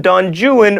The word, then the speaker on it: Don Juan: But in Byron's epic poem, Don Juan rhymes with ruin.